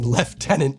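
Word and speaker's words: lieutenant: genuinely exciting you may never catch me saying left tenant ever but I do pick up and change certain pronunciations depending on who I'm with and where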